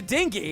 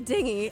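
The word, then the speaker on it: dinghy: the G so hard I don't know either as a soft G myself it's making me very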